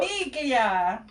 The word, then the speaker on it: famiglia: Famiglia. Yes, that's how you say it, famiglia.